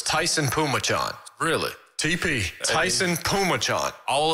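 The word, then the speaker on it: Phommachanh: i've looked it up so it's t-a-i-s-u-n that's pronounced tyson and p-h-o-m-m-a-c-h-a-n-h oh it's tyson pumachon really tp tyson pumacho all of that just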